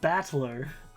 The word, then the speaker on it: Battler: so far problem is my given name is made up of the characters for fight and person and it's pronounced battler what put it all